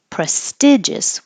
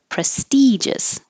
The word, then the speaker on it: prestigious: Also, you can say prestigious with the short I vowel as the sound, the most prestigious law firm. And many people will recognize this from Legally Blonde. Or prestigious, the most prestigious law firm. Either way you prefer.